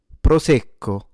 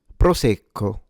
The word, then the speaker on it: Prosecco: This is pronounced proco proco proco proco. All right, let's analyze it. A light trill of the r. Don't exaggerate it.